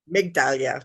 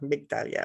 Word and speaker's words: Migdalia: But oh, thank you there, Medallia. Is that how you would pronounce it? With the G soft? Yes, Migdalia. Migdalia.